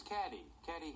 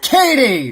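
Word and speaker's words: Cady: Her name is Caddy Heron. It's Katie! That's me. It's pronounced like Katie.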